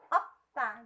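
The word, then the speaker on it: 없다: dianggap huruf mad sedih Okta ini bacanya bukan oh peta ataupun obat saya tapi dibaca Okta yang artinya tidak ada sekarang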